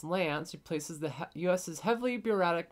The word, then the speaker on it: LAANC: So, the FAA has started with the LAANC program, or pronounced LANC, replaces the U.S.'s heavily